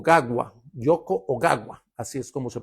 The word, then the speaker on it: Yoko Ogawa: Este libro es de un japonés, mírenlo aquí, que se llama Yoko o guagua o gagua. Yoko oagua, así es como se pronuncia realmente, lo estuve rastreando, pero el título del libro es La fórmula preferida del profesor.